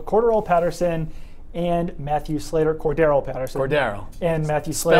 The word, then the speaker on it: Cordarrelle: Cordero. And Matthew Slater. Spelled like Darrelle Revis, but not pronounced like Darrelle Revis. Cordero, yes.